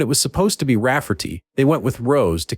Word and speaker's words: Rafferty: to name my niece Ray Farty, pronounced Rafferty, and not at all like Ray Farty.